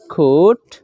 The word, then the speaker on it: could: আনতে কি লইলাম আই could COULD এর মধ্যে ক্লুড না হয়রি আনতে কিন্তু coat L will remain as a silent letter L Iba silent letter হিসাবে